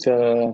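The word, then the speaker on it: chi: minum Oke kita lanjut ke binomial distribution k Square and bacanya bukan C ya tapi k nah ee Eh ini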